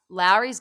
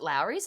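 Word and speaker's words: Lawry's: are my savory go-to's now larry's garlic is it lowry's is that how you say it it is yeah flowers garlic salt um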